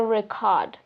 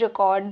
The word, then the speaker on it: record: sometime even the stress Which syllable you emphasize can change the meaning. For example, record is a noun. I broke the record. And in another one, record is a verb. Please record the video.